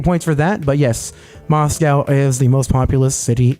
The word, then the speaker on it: Moscow: No, it was Steele letting me know that Moscow is pronounced Moscow. Colloquially. Moose cow. Moose cow.